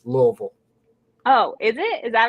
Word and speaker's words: Louisville: it but i mean if you sound it out that's probably not how you pronounce it for some reason that's